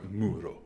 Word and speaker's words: Muro: How do you spell it? M-U-R-O. M-U-R Muro.